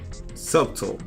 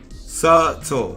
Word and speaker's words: subtle: for nice today um the B is silent subtle subtle subtle subtle they go keys